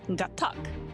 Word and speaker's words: Gatac: No, it's Gatac. That's how you say it.